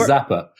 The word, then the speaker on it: Zappar: tickier uh from zappar is it pronounced the par is that right it is in america uh okay the rest of the world is zapper zapper okay great we got zapper